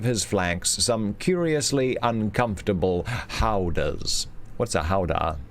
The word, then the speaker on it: howdah: I think it's hoodah. Howdah. Howdah. No, it's howdah.